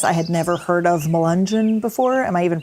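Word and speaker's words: Melungeon: so I confess I had never heard of Mangin before am I even pronouncing it right yeah that's no big confession nobody's heard of mungin outside of this area Lee County Virginia is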